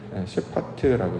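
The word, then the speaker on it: שפט: 이거 이제 셰파트라고 이제 발음을 하는데, 그 의도가 뭐냐면 결국 그 열매가 잘 맺었는지 안 맺었는지를 확인하는 걸 심판이라고 한단 말이죠.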